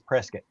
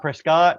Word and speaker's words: Prescott: offices in Prest and the way the people that live there pronounce it is Prescot yeah not not not Prescott not Prescott Prescot presc Pro Scott they